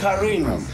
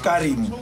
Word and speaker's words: Karin: It's Karin, not Karim. Karin, oh wow.